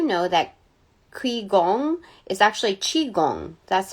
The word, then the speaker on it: qigong: I don't know if I'm pronouncing that correctly, but I do know that Qigong is actually Qigong. That's how, I know that the QI is not pronounced QI. It's CHI.